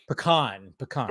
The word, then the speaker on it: pecan: Well, you didn't say it wrong. You just didn't say it my preferred way. Oh, gotcha. What's the preferred way? I say pecan. Pecan.